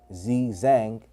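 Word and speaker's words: Xizang: Tibet, pronounced Zizang, is a region of the Tibetan Plateau in Asia, northeast of the Himalayas.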